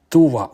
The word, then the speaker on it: Tuva: from the Sayano-Shushenskaya Dam in Tuva, or Tiva, different pronunciations, in southern Siberia.